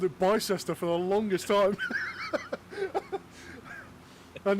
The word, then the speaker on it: Bicester: Okay, so We were- the UK has been involved in so many wars, it has learned to pronounce all the place names differently to the way they're spelled.